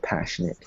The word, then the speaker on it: passionate: So it's spelled N-A-T-E, but in my head, when I picture it, it sounds more like an N-I-T, right? Passionate.